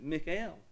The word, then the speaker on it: Mikhail: We didn't call him Michael Gorbachev. His name is Mikhail.